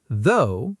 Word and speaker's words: though: Though, pronounced like so.